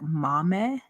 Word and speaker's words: Maame: Like it has that in pronunciation. It says m a - m e a h. So, like Mame?